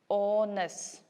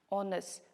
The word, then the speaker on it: honest: here so we pronounce honest right honest so that is why since in the spelling H is there but while pronouncing H is silent that is why we